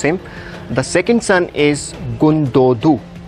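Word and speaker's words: Gündoğdu: going to discuss him the second son is goon doe - that's how should you to pronounce him goon Doh - the second son is a troll and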